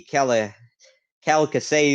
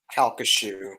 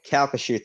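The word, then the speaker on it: Calcasieu: being reported out from the keller calico i don't know how to pronounce it uh but we're just assuming california river at sam houston jones state park already has uh reached kalkashu kalkashu thank you okay we lost them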